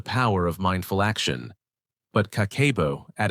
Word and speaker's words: Kakeibo: The profound answer, elegantly simple yet deeply powerful, is Kakeibo, pronounced Kakeibo.